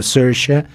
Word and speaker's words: Saoirse: se llama SH Ronan, que se escribe se escribe, se escribe saoirse, pero se dice, dicen este los irlandeses como Sha, eh, una actriz muy